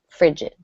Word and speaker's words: frigid: five frigid frigid frigid so a soft G there kind of a j frigid number six ceremony ceremony